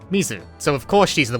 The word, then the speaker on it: mizu: Mizuki's name, at least the first bit, is pronounced the same as the Japanese word for water, Mizu, so of course she's the one who becomes a mermaid, right?